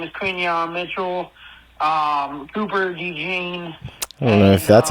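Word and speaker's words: Cooper DeJean: round uh his name is Quan Mitchell um Cooper Dean that's how you pronounce it but um man Eagles are focusing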